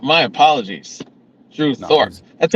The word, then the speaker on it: Thorpe: up right um oh thoron uh yeah Drew Thorp you know good yeah yeah it's Thorp Thorp my apologies Drew Thorp that's how new he is I don't even